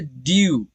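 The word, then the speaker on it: due: यहाँ पर डी को प्रोनाउंस करेंगे ड और यू ई दोनों को प्रोनाउंस करेंगे यू। ओके, यहाँ पर ई जो है वो अपना रियल साउंड नहीं दे रहा है, वो साइलेंट है, इसीलिए यहाँ पर सिर्फ दो साउंड होंगे, ड्यू, ड्यू।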